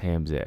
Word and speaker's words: Hamzat: Like BJ said, it's pronounced Hamzat.